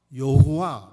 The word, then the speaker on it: 여호와: 그러니까 이것을 이론이 많습니다 많은 미국식 발음으로 그거를 모음 을 붙여서 여호와 라고 읽었구요 독일 씩 빠름을 따르는 사람들은 그게 다가 모음 을 붙여서 야외 라고 읽어요 그래서 누구는 야외 라고